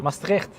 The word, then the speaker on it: Maastricht: Maastricht, with the T at the end.